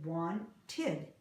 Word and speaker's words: wanted: Want has one syllable. Wanted has two. We pronounce it wanted.